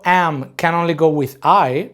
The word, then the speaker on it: y: Or is going to be o. And is going to be I. It's just a Y, but it's pronounced I.